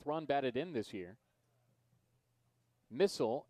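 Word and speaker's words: Misal: batted in this year missile m-i-s-a-l pronounced like the weapon runners on the corners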